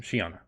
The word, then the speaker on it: Shana: um and then her Shana is that how I pronounce that name Ryan Yes Yes Shana okay sorry because I